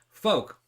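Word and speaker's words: Fouke: folk probably folk folk it's f o u k folk yeah folk it looks like Falk Mississippi you'd say Folk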